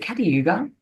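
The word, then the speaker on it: Kata Tjuta: So the Red Centre equaling the Red Sea, the Red Centre of Australia, Uluru, or is it Catayuga? That's how you pronounce it.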